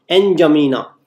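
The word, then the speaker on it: N'Djamena: जमीना, एनजमीना, DJAMENA, एनजमीना। डी का इसमें क्या साइलेंट है, तो एनजमीना इज the capital of Chad clear.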